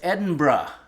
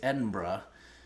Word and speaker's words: Edinburgh: uh Mississippi spara says Edinburgh yeah I it was sort of beaten into me that I had to pronounce it Edinburgh I would have said Edinburg or something like that but apparently it's Edinburgh and uh that was